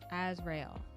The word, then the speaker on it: Azrael: Give me one second to look that up because I can't I can't mispronounce the the our little reaper's friend. Azriel. That's That's what Azriel Azriel. Okay. Azrael.